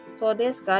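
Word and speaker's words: そうですか: So desu ka diucapkan dengan intonasi menurun.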